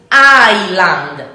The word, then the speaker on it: island: And the correct pronunciation in English is island, island, not Island, or Iceland, is island, island. So it is like the S doesn't exist.